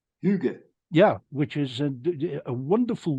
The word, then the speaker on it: hygge: part of the English language, spelled Hygge, but pronounced hygge. Hygge.